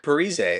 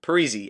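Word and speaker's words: Parise: heard in a while Zack periz or sorry Zack perzy I remember people used to call him P then I guess he came out and said it should be pronounced pzy anyway Zack pzy signed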